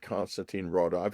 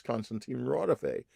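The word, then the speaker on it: Konstantin Raudive: It was not Constantine Rawdive. It was Constantine Rawdive, whose work I knew well.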